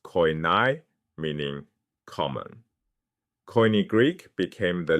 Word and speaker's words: koine: That shared language was *koine*—pronounced koy-NAY—meaning "common."